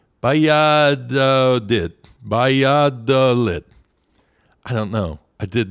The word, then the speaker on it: Valladolid: that in Spanish, they pronounce the V like a B, so I got to try to get my brain around that. Then the 2 L's sounds like a Y. Valladolid.